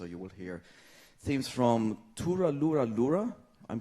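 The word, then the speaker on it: Too-Ra-Loo-Ra-Loo-Ral: Tura Lura Lura. It just sounds funny. You know, when you ask a Middle Easterner to pronounce an Irish lullaby, that's, yeah.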